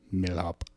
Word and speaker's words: Milhaupt: say your last name mil hop mhop so you don't pronounce the T no okay or the or the a or the U don't even think about it okay all right that's